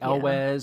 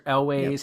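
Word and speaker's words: Elwes: was played by uh I've heard so many pronunciations on his name but Carrie El or elways however you want to say it who was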